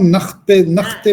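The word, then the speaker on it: nicht: के according to spell, इसको लोग निख्त भी कहते हैं, निश्त भी कहते हैं, ज्यादातर लोग इसको निश्त कहते हैं, निष्ठ ठीक है ना चुनेद।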